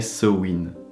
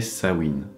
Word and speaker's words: Samhain: les puristes alors oui bien que ça s'écrivent sa mind ça ne se prononce pas ainsi d'ailleurs ça ne s'appelle pas partout pareil c'est en irlande que l'on écrit sa main en écosse on l'écrit ça mouline on a donc plusieurs prononciation sa main ça mind ça mouline samhain mais celle qui serait le plus juste serait ce wind même si certains disent que c'est sa wind j'ai envie de dire